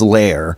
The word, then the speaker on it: Lear: Well, apparently the that the original pronunciation was Lair.